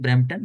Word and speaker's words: Brampton: taking care of ISKCON Brampton, and like ISKCON Brampton is that's correct pronunciation, Mataji, Brampton, or should we say something else?